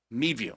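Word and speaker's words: Midview: Mad view with the emphasis on the first syllable and view sounding like vu. Mid view.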